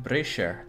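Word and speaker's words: Brescia: now it's not like I'm colonizing bruh skies pronounced Brasher then why is it spelled brass kya checkmate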